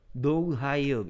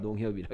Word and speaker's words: 농협: 얘는 미국 사람, 미국 발음으로 들으면 이상하게 읽을 거야 아마. 농 하이읍. 농하이업 이렇죠. 우리 한국 사람 네. 농협이라 읽는데.